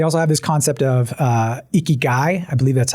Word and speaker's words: ikigai: They also have this concept of ikigai.